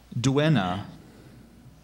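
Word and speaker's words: duenna: y s n b e r r y DNA you say the word again DNA alternate pronunciations DNA so d d language of origin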